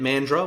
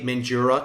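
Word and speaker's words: Mandurah: saw an increase and that's how you say it mandrel when you say mandura to the locals they don't like it but mandra saw an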